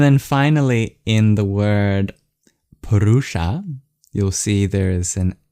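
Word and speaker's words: puruṣa: rud PR and then finally in the word perusa you'll see there is an S with a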